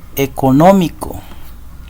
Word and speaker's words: económico: en la sílaba música otro ejemplo es la palabra económico también lleva la mayor fuerza de voz en la antepenúltima si la verdad y por